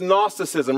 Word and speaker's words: gnosticism: it was known as gnosticism write it down it starts with a g the g is silent but when we when